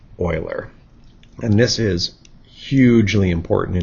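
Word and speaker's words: Euler: that he did uh a lot of people think that you would pronounce it uler but his name is actually pronounced Oiler and this is hugely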